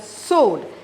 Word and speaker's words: sword: father mullen went into a room with her sword it should be pronounced as so though the word yes w